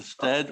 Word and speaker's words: Stead: Sorry, I was asking you if I pronounced your name correctly, Mr. Stead or Mr. Steed? Yeah, oh, Mr. Stead is correct.